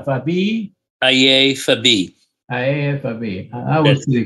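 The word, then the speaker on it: Aiye Fabiyi: And all right, your last name is F-A-B-I-Y-I. That's correct. Okay. That's correct. How do you say your name? Fabi? Aye Fabi.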